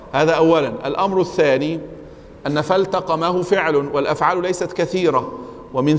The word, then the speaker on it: فالتقمه: طيب يا شباب، في الآية 142 فالتقمه الحوت، فالتقمه الحوت، هنا اللام مظهرة مع أن بعدها تاء، فالتقمه.